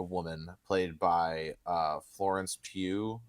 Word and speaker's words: Pugh: played by uh Florence Pugh right that's how you say her name yeah it's Florence pug so it's it's you